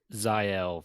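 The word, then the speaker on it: Zahel: head right okay uh pretend that h is an i and you'll you'll be good yeah yeah that definitely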